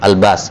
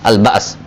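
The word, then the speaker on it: البأس: Untuk menyesuaikan dengan an-nas, maka hamzahnya diganti dengan alif, al-bas. Asalnya al-bas.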